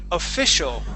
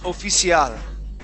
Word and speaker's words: official: Now, what I'd like to practice is when we see a word that looks like a Spanish word, okay, we need to practice not pronouncing it like a Spanish word. All right? So, for example, the word official, okay, here you had said oficial, right?